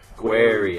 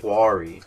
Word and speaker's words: query: them again query query everybody that thinks we say it like dumb asses it's query how they pronounce bro people in the com it's like like it's obviously spelled how it's spelled but people say it like Quarry I don't say Quarry that's